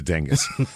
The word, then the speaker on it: Dingess: Del Bryant is a dingus xand Del Bryant a so fun to say it is the most fun it really is I'm like there's no way that this town's name is pronounced Dingus oh well I guess